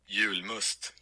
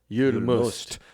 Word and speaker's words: Julmust: This is how you say it in Sweden. Here we go. Julmust. Julmust. So it's spelled Julmust, and Jul is for Yule.